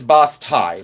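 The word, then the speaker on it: basse-taille: But it's boss tie. Boss tie enamel. That's the way it's said, but that's the way it's spelled.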